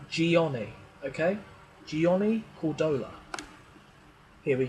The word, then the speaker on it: Gianni: crucial in fact but we pronounce his name gianni okay gianni cordola here